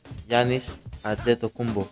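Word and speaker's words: Giannis Antetokounmpo: My name is Giannis Adetokunbo. There you are, folks. It's to pronounce the names, but as far as the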